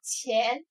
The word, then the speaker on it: 潜: 第二个字读作潜，潜水的潜，左边